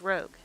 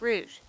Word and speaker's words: Rouge: in sonic hedgehog fandom people who pronounce rouge the best name as rogue it's not rogue it's root it's clearly spelled rouge just it's this huge